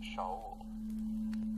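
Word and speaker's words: שאול: The name Saul is from the Hebrew word pronounced Shaul.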